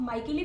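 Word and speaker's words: Micheli: Next हमारे आते हैं दैट इज एंटोन मिचेली जो है वो, या फिर आप माइकेली भी इसको प्रोनाउंस कर सकते हैं।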